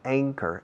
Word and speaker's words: anchor: anchor teacher, the anchor, escrito anchor, se pronuncia anchor, A, como la primera letra del alfabeto, A, B, C, D, A, anchor, anchor.